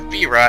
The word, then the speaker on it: Fira: and fire to make Thyra, or Fira, as some people pronounce it, sounds weird to me, you'd get a fire boost thing.